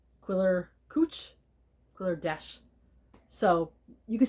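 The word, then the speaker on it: Quiller-Couch: I believe his name is pronounced, I've heard it pronounced this way, Sir Arthur Thomas Quiller Couch.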